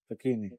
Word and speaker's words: Facchine: yeah how do you say how do you pronounce this name fakini fakini yeah all the Italians in the UK salum